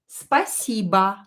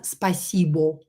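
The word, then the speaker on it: спасибо: to know this rule when o is not stressed pronounce it as a to sound more like a native speaker spaceba not spacebo spaceba because oi is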